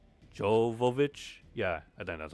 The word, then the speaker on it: Jovovich: How do you pronounce her name? Jovovich.